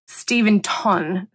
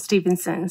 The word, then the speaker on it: Stenton: K's name wrong so it's K Stenton not Stevenson ston and I want to